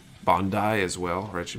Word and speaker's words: Bandai: I feel like certain words, like I mispronounce Bandai as well, or it should be Bandai.